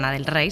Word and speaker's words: Lana Del Rey: En realidad en inglés sería la del rey, se pronunciaría así, pero era con era con.